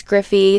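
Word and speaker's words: Gryphi: other builders but anyway her name is miss griffey it's spelled ms and then griffey g-r-y-p-h-i so she's here on youtube she's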